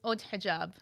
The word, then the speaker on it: Haute Hijab: Well, it's hot. I say hot hijab. Okay. But it's haute hijab. It's French.